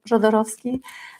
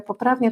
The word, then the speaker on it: Jodorowsky: personal work, from Alejandro Jodorowsky. Or perhaps I should say Alejandro Jodorowsky, because he was Chilean, and that’s how it’s correctly pronounced; here in Poland we’ve slightly Polonised his name.